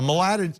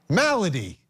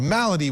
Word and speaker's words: malady: depp's inability to distinguish facts from fiction a malada um i don't know how to say that somebody in my ear tell me how i pronounce that malady i needed that thank you a malady which appears to have spread to his legal